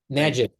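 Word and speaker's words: Majid: second speaker is Dr mahed abas I'm sorry Dr abas if I pronounced your name correctly or is it majad it's maid Magid Dr M abas thank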